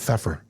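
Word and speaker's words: Pfeffer: Feffer? Feffer? P A silent P? F F E F F E R Feffer E R.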